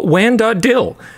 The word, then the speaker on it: WAN.dll: Hello, WAN.dll, pronounced dill. Hello, WAN.dill.